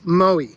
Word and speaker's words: Moe: It's Moe. We say the E. We gave it a voice.